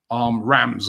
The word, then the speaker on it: Reims: Or Reims. Reims they bought him from. Oh, okay. Rams, as it's pronounced in France.